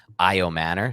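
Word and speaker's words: Ayomanor: So shout out Dave Richard who's tuning in right now and he gave me the right pronunciation. It's IO Manor.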